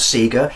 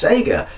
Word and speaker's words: Sega: really really annoys me it's not Seager it's Sega no it's Seager it's just not Seager where you are and